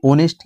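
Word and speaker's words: honest: यानी इसी प्रकार से ऑनेस्ट यानी ईमानदार, ऑनेस्ट में आपका ओ का साउंड आ रहा है, एच इसमें आपका साइलेंट है, ओ का आपका साउंड आ रहा है, इसलिए आपका एन आर्टिकल आपका आया।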